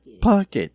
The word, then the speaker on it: Puckett: __ ] it yes pocket that's how we pronounce that oh again little secret